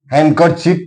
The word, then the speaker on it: Handkerchief: Handkerchief D is silent here.